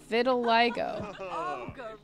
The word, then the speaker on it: vitiligo: And I found out I was saying it wrong. It's vitiligo. I thought it was vital. No, it's vitiligo.